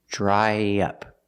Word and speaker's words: dry up: Pronunciation, dry up. To link the vowel I, dry, to the short in up, we need a sound in the middle, y. Dry, dry up, dry up.